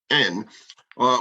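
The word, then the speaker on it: Aisne: like me who don't speak French well it's pronounced n uh which means that the city of REM RH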